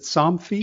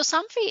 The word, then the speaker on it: Somfy: and then you ended up at is it Somfy? It Is that is. how it's Yeah, pronounced? Somfy.